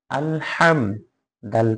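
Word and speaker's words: الحمد: হা মিম জবর হাম আলহাম দাল পেশ দু আলহামদু সাধারণ ভাবে হবে আলহামদু শুধু হা টা গলার মধ্যখান থেকে উচ্চারণ হবে আলহামদু হামজা লাম জবর আল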